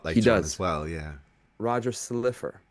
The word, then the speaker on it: Slifer: Roger Slifer. It looks like Silver, but it's Slifer.